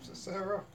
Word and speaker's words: Sisera: and say he's looking for how do you pronounce his name? Sisera.